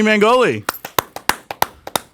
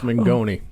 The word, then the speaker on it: Mengoni: here with us however you should learn how to pronounce my last name oh did I do it wrong yeah it's megoni mangoni you were close though oh I've known